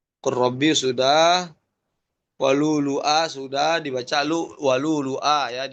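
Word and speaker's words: ولؤلؤا: Walulu'a sudah dibaca walulu'a ya, dibacanya walulu'a bukan walulu'a. Hamzanya bukan pada huruf dhamma huruf waw dua-duanya tapi salah satu aja walulu'a.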